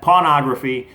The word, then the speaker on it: Pawnography: You got to watch how you pronounce that. Pawnography.